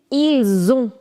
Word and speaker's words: ils ont: So you see, this is ending with a consonant, this is beginning with a vowel. So you'll say ils ont.